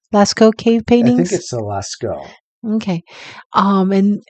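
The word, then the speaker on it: Lascaux: the um how do you say it John Lasko Lasco cave paintings okay um and the Alaska cave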